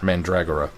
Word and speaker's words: Mandragora: actually sent me this is how this is pronounced mura mandragora at least according to Glenn I'll have to